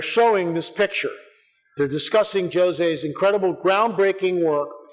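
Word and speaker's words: José: So they got Fina de Armada and Jose Machado, in Portuguese it's Jose, it's not Jose, it's Jose, that's how it's pronounced.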